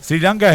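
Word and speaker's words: Sri Lanka: sri lanca gordito favor Cómo es que se pronuncia Siri sri lanca sri lanca s es una sola I me parece sri lanca es ceilán en la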